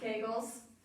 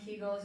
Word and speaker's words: Kegel: just kegles and it's it's both kegles and keigull. You can pronounce it both ways. It's Dr. Arnold Kegel, but I hear a lot of people say Keigull. Doesn't matter. I'll know what you're talking about.